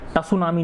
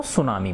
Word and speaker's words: tsunami: तो इसमें T silent होता है ना। तो सुनामी, इसको टसुनामी नहीं बोलते, क्या बोलते हैं इसको? सुनामी बोलते हैं है ना।